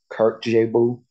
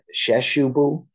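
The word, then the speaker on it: Kyrkjebø: that uh it's uh the way that it looks and the way that it's pronounced are like far far away from each other um because uh I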